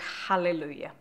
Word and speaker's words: hallelujah: pronunciation of the word hallelujah ideally a good H and then the first syllable of the word is really the most important syllable so it should always be Hallelujah with the Le being